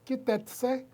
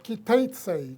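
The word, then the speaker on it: כי תצא: esta semana que es kitetse o kitsei como algunos pronuncian kit.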